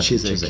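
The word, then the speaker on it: Chiswyck: That's how I pronounce it, Chiswick, yeah. Yes, he was giving me the English version of the pronunciation. W is silent.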